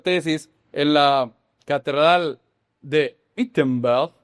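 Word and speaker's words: Wittenberg: 2 años después, en 1517, él clavó las 95 tesis en la catedral de Itenbell, como se dice en alemán.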